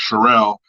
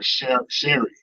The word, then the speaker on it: Cherelle: teleprompter and he uh got her name wrong her name's cherelle I mean he called her Sherry or some like